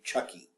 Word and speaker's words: Chucci: there in the text c h u c c i does not scream Chucky if that's the way it's pronounced I promise you um